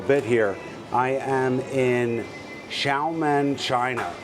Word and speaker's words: Xiamen: I am in Xiamen, China. It's spelled Xiaman.